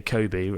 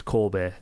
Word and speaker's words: Kobe: Like, no, you know, we say Kobe, actually it's Kobe, or Kyoto, it'd be like Kyoto.